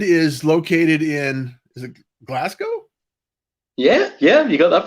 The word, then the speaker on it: Glasgow: So David is located in, is it Glasgow? Yeah, you got that pronunciation right.